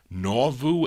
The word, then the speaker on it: Nauvoo: Is it how do you pronounce that? Nauvoo, N-A-U-V-O-O, Nauvoo Records out of Charleston, West Virginia.